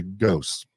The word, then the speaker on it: Gose: yeah absolutely so it's it's uh Avery ghost yes right your last name okay